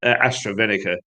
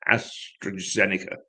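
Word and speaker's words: AstraZeneca: the astro uh uh astrovenica uh uh um shot i'm okay and i i mispronounced that astrozenica shot if you if that's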